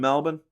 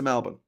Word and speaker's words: Melbourne: Oh, they build Federation Square in Melbourne. If anyone's been to Melbourne and knows how to pronounce it right, it's Melbourne, not Melbourne.